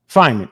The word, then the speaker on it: Feynman: How do you pronounce that? Feynman.